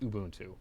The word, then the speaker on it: Ubuntu: it is just use ubuntu and it's actually pronounced ubuntu but yeah i've tried arch arch is great